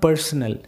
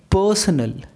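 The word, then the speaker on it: personnel: So it's personal, personal, right? Not personal, personal. Okay, so R will be silent again in this word.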